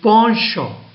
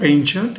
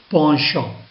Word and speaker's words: penchant: The pronunciation of the word is penchant. It's not penchant, it's a penchant.